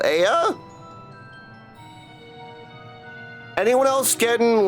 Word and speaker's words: Ea: When the vibrations of vocal folds was still required to convey our thoughts and intention, Aya, I believe, was the pronunciation used when we were referring to our people. Aya?